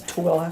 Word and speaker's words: Tooele: And we'll tell you how to say Tooele when you come out here to Utah. Yeah, because it looks like Thule, but it's Tooele.